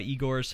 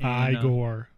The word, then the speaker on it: Igor: his mole moves in the movie just like igor's hump i gore yeah sorry that was just that really wasn't